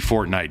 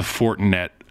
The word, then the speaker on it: Fortinet: buddy PGA Tour player he won the fortnite championship I know that's not how you say it did he really it's the Fortinet Championship second year second year